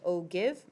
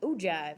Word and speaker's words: ogive: one is an ogive I know that it looks like oh give but it's pronounced oh Jive because it's super cool